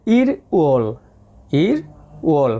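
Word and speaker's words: 일월: দেখেন এখানে উচ্চারণ করা হয়েছে ই রোল, এটা উচ্চারণ হবে ইর ওল মানে জানুয়ারি মাস, ই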